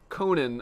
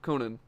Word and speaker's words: Conan: trying to time it right all right it's pronounced Conan okay nin all right I've been saying it